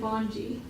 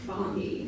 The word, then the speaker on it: Bongi: I've been pronouncing it Bonji, but she says I have a friend with the last name pronounced Bongi. Bongi, so we're gonna go With a hard G.